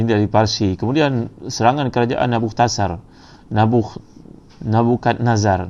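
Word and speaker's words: Nebuchadnezzar: Kemudian serangan kerajaan Nabukadnezar, macam mana sebut, Nabutakhsar. Jadi ini kalau ejaan bahasa Arab, nun ba ta Nabuktasar, ta sad ra Nabuktasar.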